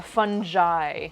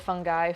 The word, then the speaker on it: fungi: snackaroonie fun what a fungi like with a j sound instead of a instead of a hard g so instead of fungi fungi i don't know